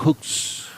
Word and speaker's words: crux: And the word cross in Latin is En crux, latín era crux, pronounced pronunciado crux, crux, which refers to a post, que se refiere